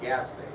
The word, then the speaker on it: Gaspé: Doesn't look like it says, that's how it's spelled out, so Gaspé.